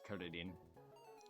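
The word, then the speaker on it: クリリン: Just like also how Japanese names that have L's are pronounced with R's. Or R's are pronounced as L's. Like Krillin's name is Kuridin. And you got Kilala, which is Kirara.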